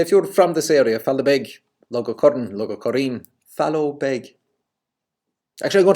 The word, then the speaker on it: Fallowbeg: So I'm sure there are people nowadays in that area that say Fallowbeg, but Fallowbeg was the pronunciation intended.